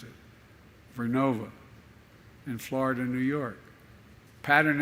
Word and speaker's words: Vernova: I mispronounced it. Vernova in Florida, New York.